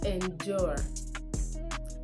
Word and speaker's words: endure: And this is pronounced as endure.